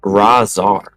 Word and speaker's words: Razar: He is saying his name is pronounced Razar.